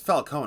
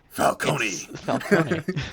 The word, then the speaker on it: Falcone: i also like that they got the pronunciation right finally because falcone caliconi alconey about cone because it's supposed to be a lot more like falcon and i like that